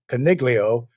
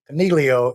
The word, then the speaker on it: Coniglio: Now, many of y'all may know him as Coniglio, since you have the American pronunciation, but we've agreed Coniglio is the proper Italian G silent pronunciation.